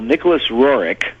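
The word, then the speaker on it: Nicholas Roerich: time and why he is important uh well Nicholas roric that's that's apparently the way the name is pronounced um and I learned that by going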